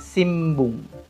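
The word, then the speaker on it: 新聞: Dia tulisannya Sinbung, tapi membacanya Simbung.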